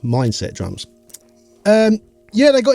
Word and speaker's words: Mindst: drums it's spelled mind St drums but it's pronounced mindset drums um yeah they got in touch and